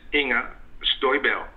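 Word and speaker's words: Inger Støjberg: You know, her name is Inga Stoiberg.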